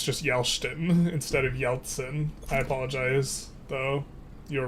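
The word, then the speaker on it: Yeltsin: It's Yeltson, not Yelston.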